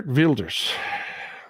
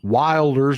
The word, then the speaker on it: Wilders: this is gear veers not pronounced Wilders like we say Jean Wilders cute G wiers from